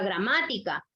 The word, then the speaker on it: gramática: Veamos ahora la palabra gramática. Última, penúltima, y la sílaba tónica la tiene en ma, que es antepenúltima.